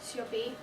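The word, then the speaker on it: σιωπή: Our film will be called Silence, which this is Greek, and it's pronounced Siopi.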